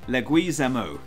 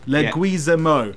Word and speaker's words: Leguizamo: So what is the correct pronunciation, Jay? Leguizamo. Leguizamo.